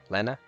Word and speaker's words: Lenna: it is Lena right Lena two NS means it would be a short e sound not a Lena that would be one I don't know name